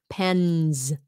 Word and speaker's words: pens: difficult here are examples pens because of the N you're supposed to pronounce it it's voiced okay pen pens you have to put it as a z sound tabs tabs see tabs